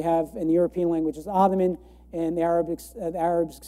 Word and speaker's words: Ottoman: but the osmana Empire why do we say ottoman well it's because the the Arabic this th sound um doesn't quite exist in English at least not commonly so uh we have